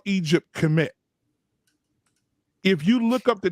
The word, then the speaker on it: Kemet: So commit. Say it again. Because maybe illuminate me. I'm pronouncing it wrong, but it meant black. Kemet.